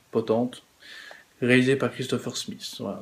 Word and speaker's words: Potente: Alors c'est avec Franka Potence, ouais, ça se prononce Potente, réalisé par Christopher Smith.